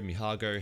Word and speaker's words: Mijago: new tool that was made by me jago mihago how we pronounce it uh and it's pretty much similar